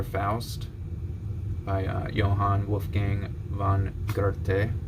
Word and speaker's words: Goethe: And here's the more popular Faust by Johann Wolfgang von Goethe. We'll just call him Goethe from this point forward, because that's how German people pronounce it.